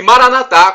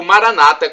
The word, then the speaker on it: Maranatá: E Maranatá, como dizemos nós católicos, ou Maranata, como dizem nossos irmãos separados, os evangélicos ou protestantes, não importa, é do aramaico, né? Não importa a pronúncia, o significado é o mesmo em português.